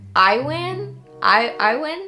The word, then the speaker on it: Ewan: I think it's Iwan? Or is it Ewan? We're about to figure this out together. Ewan. Did I say that? Ewan. Yeah, it's Ewan.